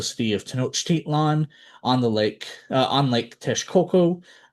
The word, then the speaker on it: Texcoco: And real quick, you'll notice that I did not pronounce Texcoco as well as Nawa necessarily the way it is spelled. I'm pronouncing it phonetically. I'm pronouncing it in the actual Nawa pronunciations, at least as close as possible.